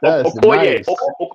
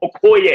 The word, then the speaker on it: Okoye: Okoye, Okoye. You know what I'm saying? Okoye. You know what I'm saying? Gotta pronounce it from the throat.